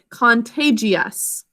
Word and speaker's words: contagious: saying it second sound because of a silent eye so we actually should think of it as contagious contagious because there's a silent eye there to keep just saying it's second sound and then we have